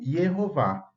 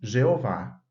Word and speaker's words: Jeová: Em hebraico, o nome divino sempre foi conhecido, está registrado nas Escrituras como Yehová. Claro que depois o nome divino iria ser conhecido em outras línguas, como no caso do português, pronunciamos Jeová.